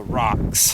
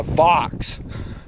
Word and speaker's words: Vox: The rocks. If I'm saying that right. Actually, I didn't say it right. It's actually the Vox. I think I called it the rocks.